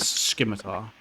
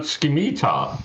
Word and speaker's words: Scimitar: wondering it is yes it is scimitar oh it's not skimita no it's it's it's Scimitar and if you if